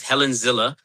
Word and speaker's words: Helen Zille: So we pronounce the name as Helen Zille.